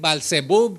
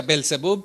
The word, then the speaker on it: Baal-zebub: Pero Baal-berith, Baal-zebub, también a veces se pronuncia Belzebub, pero también otra vez que se le conoce como Satanás mismo, ¿verdad?